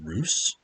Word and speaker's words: Russ: try to attack you russ is another ruse i i just found out the other day when i was playing battlefleet gap 2 armada that it's pronounced ruse that's news to me